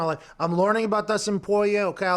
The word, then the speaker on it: Poirier: Poirier. I see how it's spelled. Yeah. Mm-hmm. How is it? Poirier?